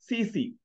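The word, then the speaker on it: tsetse: And the fly name is the CC, T silent, you say CC play, TT is silent, 2T is silent.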